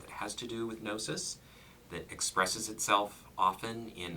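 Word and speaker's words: gnosis: that has at its core an interest in nosis nosis GN o s i is the Greek I was about to spell it I wanted to show off yes yes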